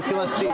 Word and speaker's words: Palestine: So when you say Palestine and you can't even pronounce it in Arabic because there's no P in Arabic. That's why we say Palest and then all hell break loose broke loose.